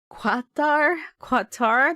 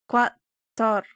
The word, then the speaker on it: Qatar: But Ali sent me a voice message showing me how to pronounce Qatar. Qatar. Let's see what it says. Qatar.